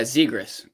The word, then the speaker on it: Zegras: anyways so trevor i i think i'm pronouncing this right is trevor zegras oh there's a good guy zigras that's how it is negros okay did you